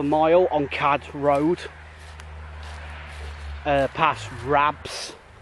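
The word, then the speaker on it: Rapps: Ilton Holt was quite a short distance from the village itself, about half a mile on Chard Road, past Rabs, which is pronounced R-A-P-P-S.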